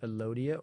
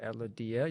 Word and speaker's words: Elodea: on a plant called elodea or Ella dia you'll hear it pronounced both ways and that is found